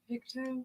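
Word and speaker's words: Pictou: Picto.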